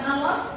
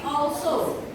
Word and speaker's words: also: Itu bacanya excellent dan juga bukan alos tapi also.